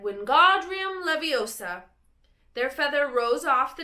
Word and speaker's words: Wingardium Leviosa: "Wingardium Leviosa," he shouted, waving his long arms like a windmill. "You're saying it wrong," Harry heard Hermione snap. "It's Wingardium Leviosa, not make the gar nice and long."